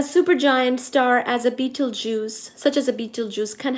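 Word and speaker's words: Betelgeuse: a super giant star such as Beetlejuice, which is spelled as B E T E L G E U S E. So like Beetlej use.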